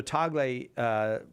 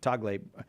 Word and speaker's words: Tagle: tell he tells the story of is it Tagle? Is that how you pronounce the guy from the Philippines? Yeah. So Tagle told the story of how when the last